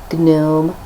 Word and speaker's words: gnome: Or use them to stuff a little gnome, as my mum likes to call them. Yeah. Keep saying it's a silent G and she just looks at me over her glasses and does that.